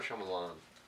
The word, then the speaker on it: Shyamalan: Is it Shyamalan or Shyamalan? Shyamalan. Shyamalan. M. Night Shyamalan. I've never. Some people cannot pronounce that name, but I think people do it intentionally.